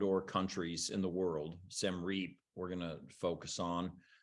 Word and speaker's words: Siem Reap: Siem Reap, we're going to focus on, which is where I have my art gallery and school.